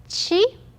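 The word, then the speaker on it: ち: sound now second one is not t it is chi the third one is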